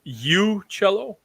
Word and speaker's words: Uccello: Donecker oh you it might be mispronouncing at this whole time it's you cello ooh cello cello cello and its large smith